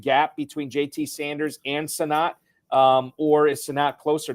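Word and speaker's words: Sinnott: on to Kansas State Ben sinate am I doing that right Chan I sonat sonat Ben sonat okay so I did not do the pronunciation right okay so Ben sonat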